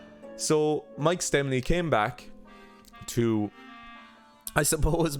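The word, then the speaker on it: Stemmle: but Mike stemmel who I've been calling him stemel and he himself does not pronounce his name here he is Mike stemmel so he pronounces his name Mike stemley so Mike stemley I'll try to remember to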